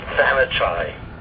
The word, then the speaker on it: Thanachai: Pop's full name is Thanachai. Which is actually very pronounceable, Sort of. It's the same amount of syllables as Barbara.